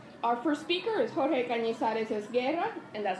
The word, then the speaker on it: Jorge Cañizares-Esguerra: Our first speaker is Jorge Cañizares-Esguerra, and that's how you pronounce it, in case you're...